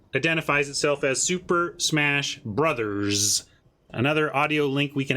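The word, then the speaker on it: Bros.: box says b-r-o-s period because b-r-o-s period is pronounced brothers that's how you pronounce that bros period well you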